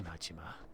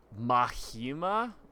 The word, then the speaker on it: Majima: Mahima? Well, the H sound on the J is more of like a Spanish-German thing. I don't think they pronounce any of the J sounds like that in Japanese.